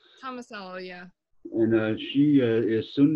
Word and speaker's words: Tomasello: Is that how you pronounce it, Tomasello? Tomasello, yeah.